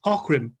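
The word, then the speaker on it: Aughrim: It's the following year and it's called the Battle of Orim. It's spelled A U G H R I M, but it's pronounced Orim.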